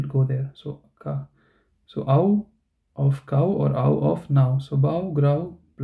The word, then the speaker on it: au: So how do you say Au? So you can, if you know how to say cow or now, so just say the Au part of these words, right?